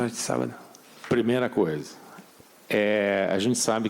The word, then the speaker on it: sábado: And I just wanted to return the favor by saying, Boa sorte no sobaio. Did I say it correctly? Boa sorte sábado.